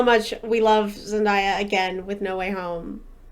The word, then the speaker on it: Zendaya: before watching it and during watching it, was Zendaya.